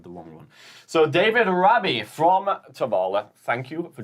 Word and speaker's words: Rabie: We have David Rabby. Hopefully, I pronounce your last name correctly there, David.